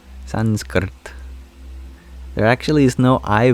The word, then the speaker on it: Sanskrit: cor correct pronunciation is you roll your R from the k sound to the T sound so it's Sanskrit Sanskrit there actually is no